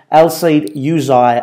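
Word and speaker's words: Elseid Hysaj: he wants to bring El Seid Yuzay, as I've been told that's how you pronounce it, the Albanian right-back, well, basically utility full-back, from Napoli to Chelsea with him.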